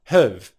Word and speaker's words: have: 'Have', because we're not stressing it we're going to give it a rhythmic pronunciation we're going to take that /hæv/ vowel sound and reduce it to a schwa sound /həv/ /həv/ /həv/.